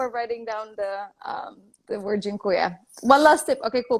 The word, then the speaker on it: dziękuję: So I want to teach you how to say thank you in Polish, and it's dziękuję. Dziękuję? Dziękuję. Dziękuję. How do you spell that?